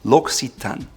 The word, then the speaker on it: L'Occitane: It's very confusing because you have two C's in a row, which is not something you typically see in the English language, so it's called L'Occitane. L'Occitane.